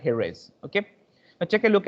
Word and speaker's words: Jerez: the south of spain that's a place called jerez we call it as there is but actual pronunciation according to the spanish language it's known as a heroes okay now take a